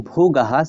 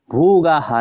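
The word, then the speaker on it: ভোগাঃ: ইয়াসাম অর্থে কাংসিতম রাজ্যম ভোগাহ সুখানিচ রাজ্যম ভুগা সুখানিচ এটা এভাবে উচ্চারণ করব ভোগাহা না বলে ভোগাহ এভাবে বলতে পারবো আমরা রাজ্যম ভুগা সুখানিচ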